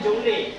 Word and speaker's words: joule: Tulisannya joule, bacanya joule.